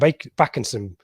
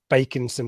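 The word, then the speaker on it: Bakinson: I think Backinson's a very lazy English pronunciation, and I don't think there's a word. If it had a C before the K, then it's back. I think it's bake, like in baking.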